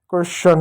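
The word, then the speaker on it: question: टी आई ओ एन क्या क्वेश्चन हो गया।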